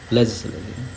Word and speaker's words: Legislative: Legislative. Legislative. Legislative. Legislative. Not lug. It's j.